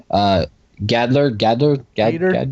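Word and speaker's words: Gaider: Gader, like Gator.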